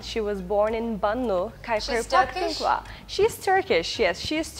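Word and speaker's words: Khyber Pakhtunkhwa: Kaiser Pakhtunkhwa. I don't know whether I pronounced yes, it in a correct way.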